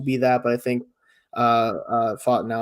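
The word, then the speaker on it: Fautanu: Like Barton could also be that, but I think Fatanu, I think is how you actually pronounce it.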